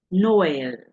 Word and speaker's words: Noël: But in this case that you have I, then you have the two dots. It means that you have to pronounce these two letters separately.